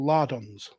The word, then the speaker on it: lardons: to mix it with it's called lardons is it yeah it is not with a h there isn't a silent h on the beginning of that it's that's what I thought